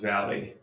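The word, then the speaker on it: Vale: Hood v v e is pronounced Valley but the a is pronounced a valley oh Valley nice Deo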